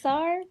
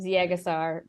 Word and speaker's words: Ziegesar: don't think I knew that's how you say it Zar wow I've been saying it Z aasar for almost my whole life now 2002 setting the stage